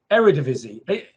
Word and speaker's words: Eredivisie: like i say it wrong every week and eredivisie that's right is that right era division yeah there it is eredivisie every i don't know every division there we